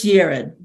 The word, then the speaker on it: Yared: our next speaker is yared did I pronounce that correctly oh you're on you're on mute um it's Jared Jared yeah thank you yeah